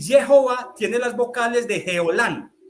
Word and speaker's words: Jehová: la J la Job la h intermedia en hebreo se pronuncia como la J aspirada cierto como en inglés es como si lo estamos leyendo en inglés Jehová y fíjate en este